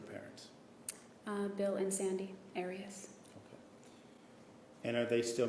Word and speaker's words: Arias: when we're talking here your name has been pronounced so most of this trial arius is there another way of pronouncing it if you always pronounce it aries i've heard it pronounced about seven different ways um i say aries as does the rest of my family okay well let's back